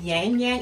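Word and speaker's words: ylang-ylang: their velvet collection and this is the Labrador yangyang is how you pronounce it yin yang yin yang yang Yang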